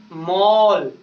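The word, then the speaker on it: mall: तो एम A double L यानी कोई भी वर्ड्स हो और उस वर्ड्स में ए वोवेल वर्ड्स हो, ए के बाद में डबल एल आ जाए तो उसे हम लोग औ का उच्चारण करते हैं।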